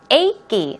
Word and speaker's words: achy: on to a key a key it's two syllables a key is the way you pronounce it painful sore or even